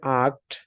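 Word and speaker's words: acht: Eight, জিভেনের পরে eight, eight কে আমরা বলবো হচ্ছে আক্ট, এইট।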